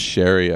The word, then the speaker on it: Sheary: he's like, "Yeah, no, it's actually pronounced Sherry.